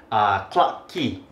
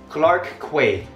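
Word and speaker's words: Clarke Quay: So there is a place a bar street in Singapore called clock key. Clock key. However, if you look at the spelling in America, I think we will pronounce it clark que でもシンガポールだと cla。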